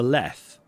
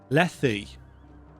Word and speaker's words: Lethe: up because it's possible that i've always been pronouncing it wrong i've always called it the river left on those rare occasions that i actually say out loud um how do you actually pronounce it lethe sorry leafy leafy that just sounds wrong